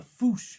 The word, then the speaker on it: fossa: um this creature the foosh or it's spelt fossa but it's pronounced foosh and it's this incredibly